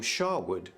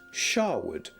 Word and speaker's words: Sherwood: an A, so originally Sherwood, though spelled with an E, was pronounced Shawwood.